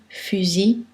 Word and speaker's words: fusil: Mais dans certains mots, il ne se prononce pas. Gentil, outil, fusil, cul-de-sac.